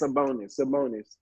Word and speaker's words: Sabonis: I cannot pronounce his name. Sabonis, you said? Yes, Sabonis.